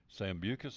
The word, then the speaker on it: Sambucus: The Sambucus, that's how you say it.